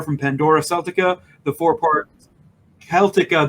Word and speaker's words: Celtica: You also know her from Pandora Celtica, the 4-part Celtica. There's no soft C in Gaelic.